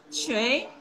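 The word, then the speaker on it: 谁: Shui, shui, shui, tone kedua, tinggi, sedikit pendek.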